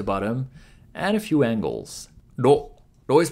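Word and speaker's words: ろ: ロ、ロ is pronounced like a combination of ro in road and lo in load.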